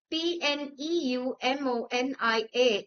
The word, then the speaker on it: pneumonia: pronounced as night or P N E U M O N I A is pronounced as pneumonia. The sounds of letters G, K and P in the words norm, night and pneumonia respectively are silent.